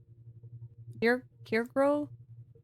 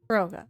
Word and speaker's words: Kyogre: I am going to say that Kyogre, Kirgro? Sorry, how do you pronounce it? Roga. Kyogre, okay.